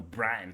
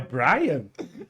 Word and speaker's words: Bram: Baseada ali no Bram Stoker, né? É Brian? Bram.